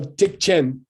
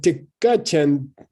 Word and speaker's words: Tikchen: By the way, Tikka is only abbreviated into Tik when you need a 1 syllable instead of 2 syllables. Okay. So Tikchen sounds nice, and Tikkachen is not ever used.